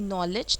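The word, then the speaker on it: knowledge: Okay, अब आते हैं डी, जहाँ पे साइलेंट होगा, जैसे कि नॉलेज. नॉलेज में आप देख सकते हो के भी साइलेंट होता है.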